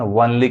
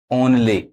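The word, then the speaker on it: only: ओ एन एल वाई इसको बहुत लोग गलत पढ़ते हैं वनली कहते हैं वनली नहीं क्या पढ़ेगा ओनली अब यहां पर देखिए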